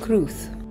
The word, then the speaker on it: crwth: number 13 is the truth the strange spelling is due to the fact that this is a welsh word and w is pronounced as a vowel in welsh similar instruments have been